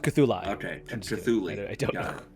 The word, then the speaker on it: Cthulhu: Is there more than one Cthulhu? It's pronounced Cthulhu.